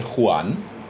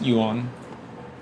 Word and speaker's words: Yuan: I'm always tempted to say Juan, which is not at all how you pronounce this, I don't think. Probably it's just Yuan. Something like that. It's not Juan. We're not in Spain here.